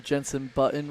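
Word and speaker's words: Jenson Button: Yeah, I didn't even know who Jensen Button was.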